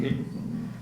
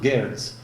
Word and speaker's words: Geertz: It's pronounced Geertz. I think Americans pronounce it Geertz.